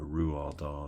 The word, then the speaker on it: Roald Dahl: I read a biography of Roald Dahl that talked about that. Or Roald Dahl, if you want to use the correct Norwegian pronunciation.